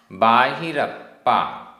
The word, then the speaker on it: बाहिरप्पा: गाथा क्रमांक पांच उच्चारण अखाण अखाण आधा क ख अखाण बाहिरप्पा बाहिरप्पा आधा पा पूरा प बाहिरप्पा अंतर अप्पा अंतर अप्पा